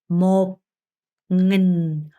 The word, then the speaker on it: một nghìn: 그래서 1천은 발음이 어려우니까 잘 듣고 제 입모양을 잘 보셔야 돼요. một nghìn, một nghìn, một nghìn, một ngàn, một ngàn, một ngàn, một nghìn, một ngàn 이라고 합니다.